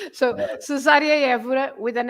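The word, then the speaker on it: Cesária: I think often people are pulled towards an Italian pronunciation, aren't they? So, Cesaria, rather than a more restrained.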